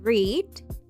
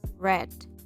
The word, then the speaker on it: read: Se escribe igual, pero se pronuncian diferente. En presente es read y en pasado es read.